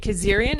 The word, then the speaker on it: Kazarian: And then also with us, our special guest is Kazarian. Is that how you say it? Yeah, Kazarian. I don't even pronounce it right.